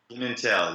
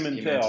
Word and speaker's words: Pimental: I've known you for a few years now, but it's Pimental, right? Pimental, yes. Pimental, there we go. I've got to get the accent on the right, the emphasis on the right syllable, as it were.